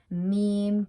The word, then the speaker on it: meme: and many other sources the correct pronunciation for meme is me rhymes with team is her an article